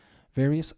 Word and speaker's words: various: one is just us various serious nervous obvious previous most of my students don't really have a problem with this what to remember the ous rhymes with Miss not us or Mouse okay yes okay various